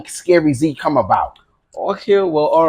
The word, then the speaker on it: Skery Zee: Well, actually, it's pronounced Skery Zee. All right. Skery Zee. There's always a space.